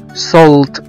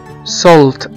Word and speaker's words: salt: وزي كمان كلمة salt، S A L T، اللي هو ملح، في ناس كتير جدا بيقروها وبينطقوها غلط، هي بتنطق salt، salt، S A L T، وهنا بننطق حرف الـ A كأنه حرف O.